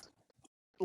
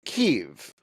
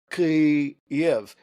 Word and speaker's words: Kyiv: IV pronunciation in English, they reduce it to one syllable. They say Kiev rather than Kiev, which is the Russian pronunciation. But the thing is, both are wrong.